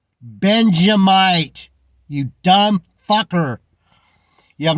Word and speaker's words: Benjamite: These Benjaminites. He's a teacher and he doesn't even know how to say the fucking main tribe's name? Benjamite.